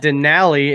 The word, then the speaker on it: Denali: not it's not Tomatoes it's Denali and it rhymes with the valley exactly there you go